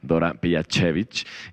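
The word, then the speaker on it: Dora Pejačević: croata que se llama Dora Pejacevic, quien, tal vez lo pronunció mal. No, very good pronunciation, very good.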